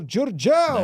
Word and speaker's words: Giurgeu: Welcome to the podcast, Paul Giurgeu.